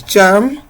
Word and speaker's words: germ: It is pronounced as germ, G.